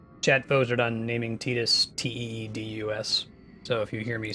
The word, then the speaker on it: Tidus: Tidus's name the way I think it's supposed to be pronounced. Chat voted on naming Tidus Teedus.